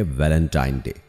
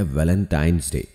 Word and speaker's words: Valentine's Day: नाम पर गौर करें उसे जो आम कहा जाता है वह है वैलेंटाइन डे लेकिन हकीकत में उसका जो प्रोनाउंस एशन है वह है वैलेंटाइंस डे यानी वैलेंटाइन वाला दिन